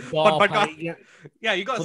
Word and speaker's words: Barpaga: Is it it's actually, it's pronounced Barpaga. I'm not going to say that. I say Barpaga.